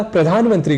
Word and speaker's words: प्रधानमंत्री: जाते है हमसे चूक इसी तरह प्रधानमंत्री को हम असावधानी में प्रधानमंत्री यानी धा की जगह दा यह बोल जाया करते हैं ऐसे ही हमें